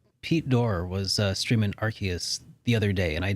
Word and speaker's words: Arceus: a game like arceus i said it right arceus but with a game like arceus though i